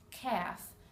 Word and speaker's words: calf: now the unexpected sound all of these four words have a silent L talk walk half calf the L is not pronounced in any of those words I will meet you